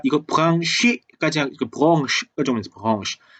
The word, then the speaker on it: Branche: 참고로 프랑스어라서 발음이 이렇게 돼요. branche 이렇게 되는 거죠.